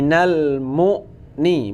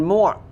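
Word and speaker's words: المغني: UN UN honey a6b al-mughni bukan muak bukan moa tapi mu Min Al Mughni mail aniah Nah kalau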